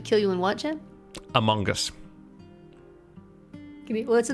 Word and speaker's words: Among Us: about among us okay you're pronouncing the g really hard and uh as like an o sound so you're pronouncing this as among us no among us among us oh yeah i know i know i'm honest no no see i'm now i'm not pronouncing g it's a schwa it's not an o i know it's spelled with an o but you know how